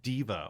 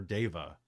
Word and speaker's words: Deva: shifter gnome goliath and diva or deva even though it's spelled pat layers handbook three